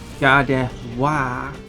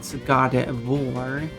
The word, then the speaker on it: Gardevoir: And it's also important that it is Gardevoir. It is not Gardevoir. Because that sounds like the word. That sounds like the word war.